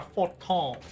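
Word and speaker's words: Fortemps: But I assumed it was French, and so probably like a forton or something like that.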